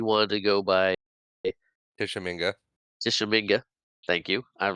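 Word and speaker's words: Tishomingo: Tishominga. Thank you. I'm like, I want to pronounce that right.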